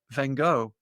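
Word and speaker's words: Van Gogh: lot of paintings by Van Go as you pronounce it in English. we say von you know we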